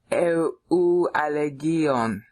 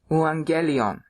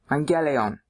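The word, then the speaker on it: εὐαγγέλιον: Oh, wait a minute, I'm not saying that right. This is where I screwed up the first time and I came up with more syllables than there were. I have trouble with diphthongs. Logon tes aleteas to angelion. Yeah, there we go. I finally said it right.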